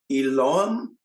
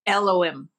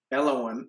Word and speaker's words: Elohim: there are the seven mighty I'm going to mispronounce this. Uh, Eloom, Elom, Elohim, Eloim, Elohim, and their divine counterparts.